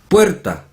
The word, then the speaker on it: puerta: Puerta, puerta, puerta son dos sílabas. Pero los asiáticos la pronuncian como 4 sílabas. Puerta. ¿A qué los oídos? A ver, está mal, ¿no? Se pronuncia en 2 sílabas. Puer, porque es diptongo. Wer es diptongo. Puer, ta, 2 sílabas.